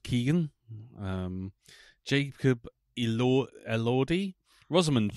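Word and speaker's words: Keoghan: starring Barry Keegan and it is pronounced Keegan um Jacob El elordi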